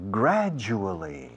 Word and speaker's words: gradual: Slowly but surely, gradually. Fijaos la pronunciación de gradual. La D más la U, en inglés, tiene sonido de J inglesa, que es ju.